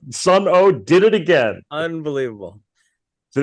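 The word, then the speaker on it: Sunn O))): called Sun O, and it's actually pronounced like wah, wah, wah, like it doesn't have a regular pronunciation, but it's spelled SUNN 8 parentheses, the letter O, and another 8 parentheses on the other side.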